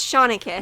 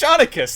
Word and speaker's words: Seaniccus: So that's It's Seaniccus. It's Seaniccus, like Spartacus, except for I spelled it wrong when I made the account, because apparently Spartacus only uses 1 C.